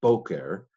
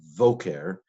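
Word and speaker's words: בֹקֶר: Now, it doesn't have a dagish to harden the sound. So instead of boker, which is what it would be at the beginning of a sentence, probably, it's voker. It's pronounced like a v in modern Hebrew as well.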